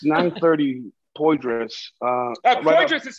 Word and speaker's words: Poydras: It's 930 Poydras. Poydras is spelled P-O-Y-D-R-A-S.